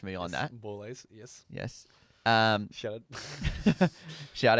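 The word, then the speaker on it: Borlase: Boulays, yes.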